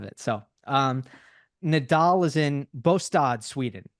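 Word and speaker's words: Båstad: It is not Bastad, if anybody pronounces it like that. It's that is Gstaad. Well, Switzerland. Exactly. But a lot of people say, oh, it's Gstaad and Bastad. And it's like, no, it's actually Bostad, which is not how I wouldn't think it is pronounced that way. But it actually is.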